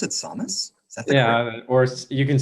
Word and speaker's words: Samus: is thomas it's almost very good do you pronounce it samus yeah or you can say samus right okay yeah that's like i don't know